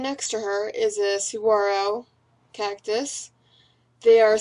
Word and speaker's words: saguaro: from and sitting next to her is a saguaro cactus they are spelled saguaro but pronounced saguaro if you're unfamiliar with cacti and i love